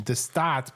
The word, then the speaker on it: De Staat: By the way, I meant to mention de Staat because most people probably don't speak Dutch. It's spelled DE space STAAT.